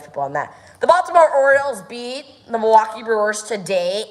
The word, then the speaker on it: Orioles: instead of Orioles, but it is Orioles, not Oreos.